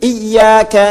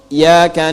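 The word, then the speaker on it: إياك: Jadi kalau kita baca pakai tasydid iyaka na'budu wa iyaka nasta'in.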